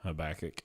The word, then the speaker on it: Habakkuk: of different ways and we're going to say it the right way habach yeah habach not habac yeah and I don't